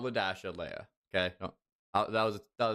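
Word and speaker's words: Li-Dasha: not move right here this is spelled Li Dash uh this is pronounced lead Dasha God I hate drawing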